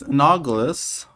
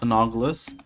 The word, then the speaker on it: analogous: Now the last one is analogous. Sorry, not anogus. So that means I've been pronouncing it the whole time wrong. That's funny. I meant an anol. How do you pronounce that? Analogous.